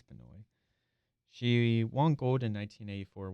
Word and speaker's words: Benoit: And one of the notable athletes in that division is Joan Manoi. I don't know if I'm pronouncing that right. I think it's Canoy.